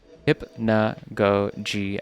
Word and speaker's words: Hypnagogia: And you pronounce it hip hypnogogi. Hypnogogia.